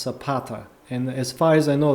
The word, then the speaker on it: Zapata: Zapata should be pronounced Zapata as far as I know this means Shu in Spanish but I might be wrong I don't know zata I think it's sapata Z is pronounced sa oh sapata okay so